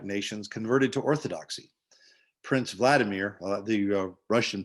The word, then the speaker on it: Vladimir: of the slavic nations converted to orthodoxy prince vladimir the russian pronounced yes pronunciation would be vladimir ruled the vast kingdom of kievan ruse although